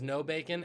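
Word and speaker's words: Nobacon: man named dan burt no bacon his last name is no bacon n-o-b-a-c-o-n um pronounced no bacon born nigel hunter he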